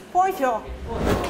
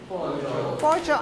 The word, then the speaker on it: pollo: carne de esto es pollo Poncho pollo atención con la pronunciación eh pollo no pollo pollo pollo pollo pollo